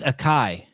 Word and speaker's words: Ekai: say his name because I was calling him and it's um you're getting better every time okay I know it's really really difficult for you uh yeah I'm an American people to say my name properly yeah but I want it and then it's Akai Akai oh yeah exactly ikai yeah yeah you got this